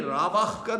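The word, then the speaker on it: רָוַח: 이걸 동사로 읽어버리면 발음이 라바흐가 되는 거고 명사 영이라고 하는 명사로 읽게 되면은 루하흐라고 발음하는 것뿐이에요.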